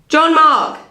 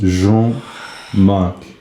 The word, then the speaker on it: Jean-Marc: Jean-Marc. Shut up. I think it was your pronunciation. It's actually pronounced Jean-Marc.